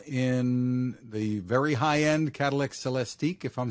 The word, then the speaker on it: Celestiq: So this is first going to be available in the very high-end Cadillac Celestiq, if I'm saying that right?